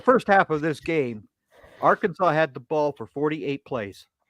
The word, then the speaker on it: Arkansas: say you you you still say it right Arkansas but you know Arkansas people from Arkansas don't